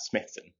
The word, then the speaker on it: Smythson: Um, and yes, you would pronounce that Smithson.